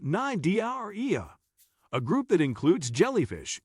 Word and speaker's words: Cnidaria: Corals belong to the phylum Cnidaria, pronounced Cnidaria, a group that includes jellyfish, anemones, Portuguese man-o' war, and several other gelatinous and stinging marine invertebrates.